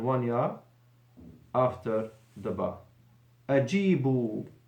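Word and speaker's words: أجيبوا: Ajibu, as in the Quran, with a waw and an alif. Alif that is written and not pronounced.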